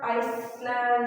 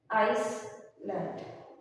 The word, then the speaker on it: island: we have the example of Island it's not Iceland Iceland is pronounced as this is land it's Island L is silent I land getting